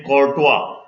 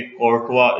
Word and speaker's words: Chancourtois: Next है, ये एक टफ नेम है, अलेक्जेंडर बिगॉय। इस तरह यहां पे भी ER साइलेंट है। डी चैन कोर्टवा, ये उनकी प्रोनाउंसिएशन है, फ्रेंच है, तो हम जो है जिस तरह खुद भी पढ़ सकते हैं, लेकिन ये ER बिगॉय होता है, ठीक है, और ये कोर्टवा इसे पढ़ते हैं।